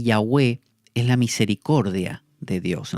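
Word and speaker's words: Yahveh: es lo que llamamos llave jehová pero yagüe sería en la pronunciación más acertada este es el nombre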